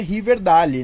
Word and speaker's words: Riverdale: o river meio porque na verdade violência e pronuncia riverdale né pra quem não sabe eu falo de